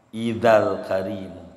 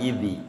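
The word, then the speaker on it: إذا الكريم: Idzal karimu. Jangan idhi, idza al karimu. Idzal karimu tajalla bismi muntaqim.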